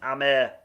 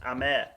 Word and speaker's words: Hamer: look out for for sure james it's pronounced hamer boys it's actually pronounced amer is brazilian it's brazilian descent i think we're